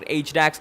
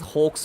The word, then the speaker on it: Hawks: I guess Cuddly will actually be going after HDAX, and this is not HDAX, this is Hawks.